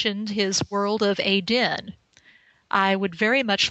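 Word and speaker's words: Aedn: Realms of aen and Aden is spelled a e d n NE it is also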